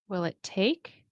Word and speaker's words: to: How long will it, okay, will it take to, remember, you can pronounce it as to, but generally in connected speech, we will pronounce to, like T-O, as ta. Okay, it helps with the rhythm of English.